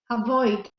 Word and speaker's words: avoid: stress is okay avoid the stresses on the second part compare where's the stress